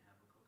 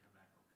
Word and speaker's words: Habakkuk: About half of Bible scholars say Habakkuk and the others half say Habakkuk.